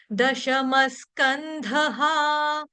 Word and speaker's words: दशमस्कंधः: उसके आगे विसर्ग है, विसर्ग का जो उच्चारण होगा आधे स के साथ होगा, क्यों? क्योंकि विसर्ग के आगे शब्द आपका स आ रहा है, इसीलिए। दशमस्कंधः, ह या हा दोनों ही सही हैं।